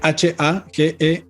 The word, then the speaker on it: Hagelin: hecho en Washington, conocido como el experimento Hagelin, se escribe H-A-G-E-L-I-N, Hagelin, y que justamente quizás algunos de ustedes